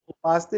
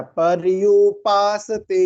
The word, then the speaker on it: पर्युपासते: उपासते नहीं बोला बेटा, पर्युपासते, यू आ गया ना तो पर्युपासते, ठीक है।